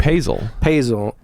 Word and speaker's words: Paesel: Paesel.